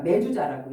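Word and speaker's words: מזוזה: 요거는 우리가 매주자라고 읽어요. 히브리어로 매주자.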